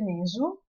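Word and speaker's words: nswt: Questa T in realtà fa parte della grafia tradizionale della parola re, ma non viene pronunciata. Si legge Nesu, Sa, questo è l'anatroccolo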